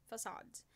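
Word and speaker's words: façade: which is made of two circular convex shaped facades that's pronounced as facade so it's an application of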